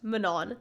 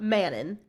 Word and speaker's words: Manon: See, okay, it is pronounced Manon, not Manon. Yes, it's Manon. Yes, it is Manon. It does not sound like a cookie.